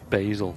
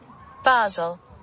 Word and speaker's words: Basel: ready first yeah well it says British pronunciation so would it be the same as as the the Swiss pronunciation Basel there you go what